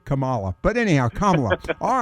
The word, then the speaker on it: Kamala: you better not say you better not say uh Camala because she gets really upset and so does uh